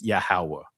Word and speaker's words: Yahweh: Now, of course, they had to throw the Yahweh here, you know, you know, that's they had to throw it here, Yahweh, right? But actually, in ancient Hebrew, you guys know how it is pronounced is Yahawah, right?